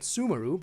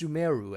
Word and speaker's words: Sumeru: keep an eye out i kept calling it sumaru but apparently it's sumeru at least that's how